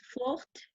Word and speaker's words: fort: Être forte comme un turc. Fort, non se pronuncia la T.